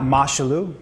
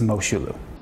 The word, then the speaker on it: Moshulu: It's not Moshulu. Okay. It's not Moshulu. It's Moshulu. Moshulu.